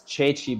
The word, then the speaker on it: Ceci: It's Chechi, but I call him Ceci.